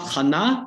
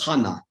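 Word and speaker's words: חנה: look at first names you have not khanna but you have hana right and there's a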